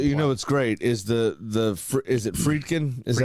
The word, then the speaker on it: Friedkin: So what's great is is it Friedkin?